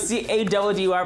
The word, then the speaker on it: Caddy: Warm welcome from the best two fresh bros Buffet coming up with C-A-D-D-Y pronounced Caddy.